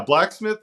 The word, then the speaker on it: BLCKSMTH: that's boundary setting right did I say it right you did yeah blacksmith is right but but blocksmith I